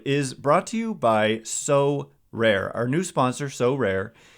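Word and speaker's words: Sorare: cards and accessing Next Level competitions and rewards so rare recently partnered with mlbr All-Stars Juan Soto and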